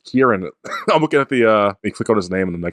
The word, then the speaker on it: Kieran: i e Ren oh so it's Kieran yeah oh that's not how that's not how I would have pronounced it I would have pronounced it uh sarin yeah like I would go like serion like a but Karin actually makes sense in Irish uh yeah that the